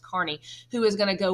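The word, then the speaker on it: Kearny: looks like Kearney on here but it's actually pronounced Carney who is going to go west to capture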